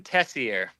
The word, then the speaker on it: Teixeira: So it's Tessier. Tessier. It's French Canadian. Okay. It's technically Tessier, but not a lot of people catch on to that, so it's Tessier is my last name.